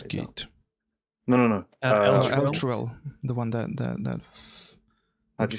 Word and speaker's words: Elturel: Elturel, the one that How'd you spell that? fucking Al- disappeared. ELTRUEL. I believe. I didn't. Elturel. Okay. Yeah. Oh no, it's ELTUREL.